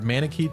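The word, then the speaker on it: Manakete: back to that time they compared the word manake to parakeet which solves the mystery of its pronunciation right all manits are parakeet why not just Fay on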